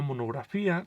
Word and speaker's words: monografía: Recuerden que las palabras que terminan en fía llevan acento en la I.